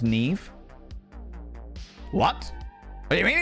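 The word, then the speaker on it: Niamh: It's like it's pronounced Siobhan or Nea. Nyama. Na. Nyama. Na. It's It's pronounced Nev.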